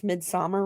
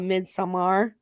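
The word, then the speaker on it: Midsommar: to say I love that you guys actually pronounce midmer right because I hear Too Many people call it midar and I'm like um that's yeah yeah it's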